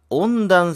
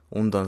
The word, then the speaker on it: 怨娚: たいとおもいます温暖その聞いたことないですね怨念のあるこれで団と読むらしいんですけどまあまあやっ